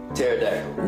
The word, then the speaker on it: pterodactyl: Pterodactyl. No. Actually, okay, that's not bad. That's not bad. How you spell that? P. What? What? You said P. I know it's silent.